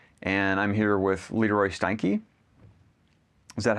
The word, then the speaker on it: Steinke: My name is Jared Howe, and I'm here with Leroy Steinke. Is that how we pronounce it?